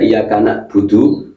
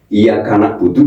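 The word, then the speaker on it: إياك نعبد: Jadi ingat siapa yang sering membaca iyaka budu berarti hurufnya berubah hamzah ini ya. Ini loh begini loh. Nah, salah ini loh. Nah, nak budu na'budu itu iyaka na'budu berarti huruf ini. Tapi kalau iyaka na'budu basah tenggorokannya. Berarti ini berarti betul.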